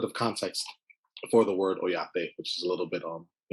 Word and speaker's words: Oyate: you do at the ojate group and correct me if I'm not pronouncing it right no oyate um you're spot on with the pronunciation so I am the